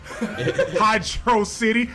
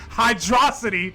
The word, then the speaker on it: Hydrocity: yeah labyrinth zone yeah hydro city hydro city just in case anybody out there pronounces that hydrocity like a idiot you're dumb it's hydro city hydra god damn it